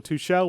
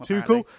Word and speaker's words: Tuchel: the new manager in thomas tuchel or touchelle where i don't know how do you pronounce it too cool too cool i pronounced it he's apparently he's another